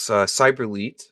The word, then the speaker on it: Cyberlete: Cyberlete, so like a cyber athlete put together.